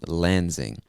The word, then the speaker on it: Lansing: of michigan is lansing so that s kind of makes a z sound lansing lansing michigan all right